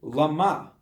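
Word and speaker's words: למה: have you forsaken me read the word llama just put the emphasis on the second syllable meaning for what purpose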